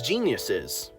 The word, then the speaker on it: genius: Um, and the guardian spirits were known as geniuses. No, I'm not kidding. And I looked up how to pronounce it. It's genius. It's literally the word genius.